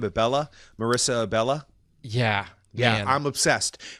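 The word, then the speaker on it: Marisa Abela: Marissa Abella?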